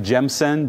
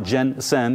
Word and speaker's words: Gemsen: So through our distributor friends up in Canada, Gemsen, G-E-M-S-E-M, not Gensen, make sure I pronounce that properly for you guys.